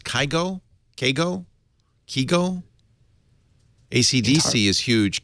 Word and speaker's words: Kygo: It's pronounced Kygo. AC/DC is huge. Kygo is popular.